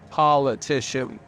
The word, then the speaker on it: politician: They try and hide it, make it pronounce it like Paul, politician, but it's a poll, and there's a reason for that.